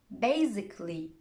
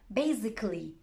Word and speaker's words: basically: the letter a but if a word ends in i c a double l y most people don't pronounce it here are some examples try to copy them after me automatically basically logically practically surgically romantically